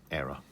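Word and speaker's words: Éire: I think it's pronounced Era.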